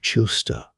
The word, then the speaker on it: Chillinster: She pronounced the name Chilster.